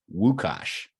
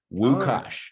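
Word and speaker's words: Łukasz: Lucas but in but in Poland you would pronounce that wukash like with a W wukash all right all right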